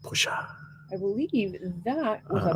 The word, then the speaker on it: Porsche: select, boom, and then That was a Porsche, ladies and gentlemen. I believe it's pronounced Pusha.